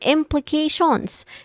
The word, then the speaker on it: implications: And then implications, it starts with im, a stressed syllable, short e sound, using a short e sound. And then pli, which also uses a short e sound. And then k, where it has a diphthong a sound and a stressed syllable also in this word.